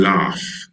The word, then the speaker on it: laugh: Listen and laugh is love.